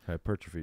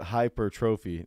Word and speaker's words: hypertrophy: hypertrophy day. How do you say that word again? Earl says it hypertrophy.